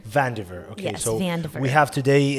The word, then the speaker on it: Vandiver: H we have how how you do you pronounce your surname correctly uh vaner vaner okay so we have today in the podcast